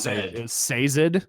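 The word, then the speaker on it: Sazed: you said okay so that's how you said it the way the audio book is say Syd say Syd okay and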